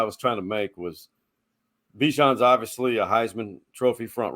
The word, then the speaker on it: Bijan: So Bijan rhymes with Dijon.